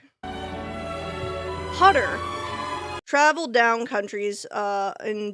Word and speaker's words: Hutter: And the young young hunter Hutter. I'm going to look up this motherfucker's name. I I I swear I'm pronouncing it wrong. Cast of Noeratu 1922. cuz it like it's going to bother me if I Hutter. It's hu t.